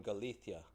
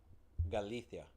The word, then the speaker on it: Galicia: From Galicia. Galicia. Y'all know how the Spaniards pronounce their S's and C's? They just don't say them. They say them like a th.